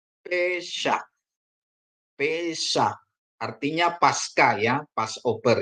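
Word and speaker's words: פֶּסַח: Ini ada samek dikasih patah, bacanya sa, terus akhirannya het ya. Jadi dia dibaca pesah.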